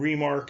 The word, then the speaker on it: Remarque: And Remarque is spelled R-E-M-A-R-Q-U-E.